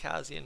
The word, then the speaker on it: Kassian: Zach Kassian, and I still say it Kassian with 2 Z's. That seems like the right way to say it to me. Trade history. Zach Kassian has been traded 4 times in his life.